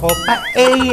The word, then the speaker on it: paella: This Paella- I pronounced it as Paella again. Pa-ea, right?